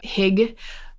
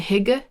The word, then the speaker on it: Hygge: Sometimes nourishment, or hig, I think that's how you say it. I'm actually, that might not be how you say it. Hygge, Hygge.